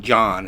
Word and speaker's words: Jean: John. It's spelled Jean, but it's St. John, and they had a real nice little downtown, which right next to in a park right next to the.